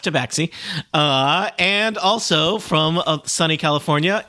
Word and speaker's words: tabaxi: It's pronounced tabaxi.